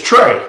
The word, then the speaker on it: Tra: It's Trey. Thank you. Trey. Yes, sir. All right. It's spelled strangely.